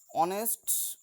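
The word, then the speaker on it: honest: দেখো এইসের উচ্চারণ যেহেতু অ উচ্চারণ হচ্ছে, আমরা কিন্তু হনেস্ট বলি না, এইস ইজকাল টু হ হয়, কিন্তু সেক্ষেত্রে আমরা বলছি অনেস্ট, অর্থাৎ এইসের উচ্চারণটা অ হয়ে যাচ্ছে, ভাওয়েলের মতো উচ্চারণ আসছে, সে কারণে আমরা এর আগে অ্যান বসিয়েছি।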